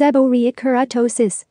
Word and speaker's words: seborrheic keratosis: treat it what is seborrhea kurtosis seborrheic keratosis pronounced as a borya keratosis is one of the most common non cancerous